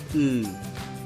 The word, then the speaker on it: 으: It sounds 으 and there is no English correspondents, the sound value is the weakest among all vowels so when pronounced rapidly inside a word, It sounds as if it is not there.